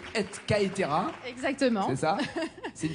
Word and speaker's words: et caetera: Si on prononce À la latine, c'est et caetera.